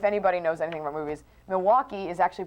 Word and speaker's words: Milwaukee: Milwaukee uh if anybody knows anything about movies Milwaukee is actually pronounced milake which is Algonquin for anyone the good land